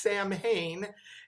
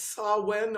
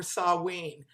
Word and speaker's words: Samhain: an american form of the gaelic which should be said as saw when or saw wien and that happens on